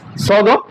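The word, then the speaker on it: ص: তার মধ্যে সদ মোটা হরফ। তাহলে আমরা সদ হরফ উচ্চারণ করার সময় মোটা করব।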